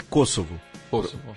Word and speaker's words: Kosovo: É Kosovo. Pronuncia direito.